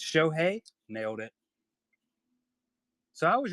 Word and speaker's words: Shohei: It's Shohei, nailed it.